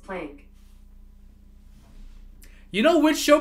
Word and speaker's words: Planck: They're asking him, so how do you pronounce it? And he's like, plank. I'm like, oh, but I think, you know, we pronounce it plunk. I think it should be pronounced plunk.